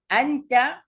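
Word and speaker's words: أنتِ: নাহনু বলা হয় আমরা আন্তা এখানে যদি দেখেন দুইটা একই শব্দ কিন্তু একটা উচ্চারণ হবে আন্তা আর আরেকটার উচ্চারণ হবে আন্তি আচ্ছা আন্তা মানে ইউ অথবা তুমি আন্তা ছেলেদের ক্ষেত্রে ইউজ হয়।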